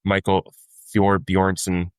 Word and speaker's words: Thorbjornsen: Rocket Classic, as I said earlier, Michael Thorbjornsen, I hope I pronounced that right.